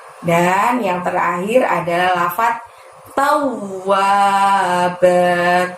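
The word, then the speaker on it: تواب: Dan yang terakhir adalah lafaz tawwab. Taunya juga sama, masukkan ke huruf bertasydid di depannya, ditekan ditahan 2 harokat. Tau ditekan ditahan 2 harokat diikuti bunyi huruf wa. Tawwab.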